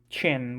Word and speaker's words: Qin: with all the pronunciations finding out that shin's name is pronounced chin was a bit of a shocker to me but anyway that's really